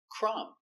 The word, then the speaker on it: crumb: Example, crumb. The b is silent.